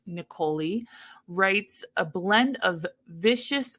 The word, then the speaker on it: Niccoli: So this is Given to the Ghoul by, I have a pronunciation here, Desiree Niccoli. Yeah. Because it rhymes with cannoli. That's Desiree Niccoli.